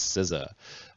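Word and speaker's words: CISA: a very short and terse answer and it's scissor is pronounced not like pizza by the way uh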